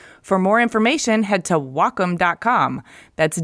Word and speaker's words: Wacom: no wait Wacom No well calm no its Wacom pronounced wah like the Japanese word for harmony and come for computer the Wacom Cintiq 16